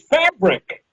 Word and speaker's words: Phabriq: personally is through your website, which is Fabric. But it's not spelled like you think about it. It's PHABRIQ, right?